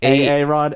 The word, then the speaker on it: Aran: It's Aaron. A-R-A-N. A-R-A-N. Aaron.